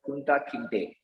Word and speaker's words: Kunta Kinte: And there's also another character called Kunta Kinte. That's how it's pronounced in Roots.